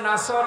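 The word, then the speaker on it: نصر: হয়েছে এখানে সোয়াদ আছে নাসর মানে সাহায্য আর নুন সিন র নাসর মানে ইগল পাখি আপনি যদি মুখটা গোল করে শুদ্ধ করে উচ্চারণ না করেন অর্থ আকাশ পাতাল পাল্টিয়ে যাবে আল্লাহ পাক বলেন হে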